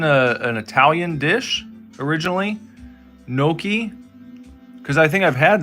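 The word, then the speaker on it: gnocchi: You're eating some Nokis.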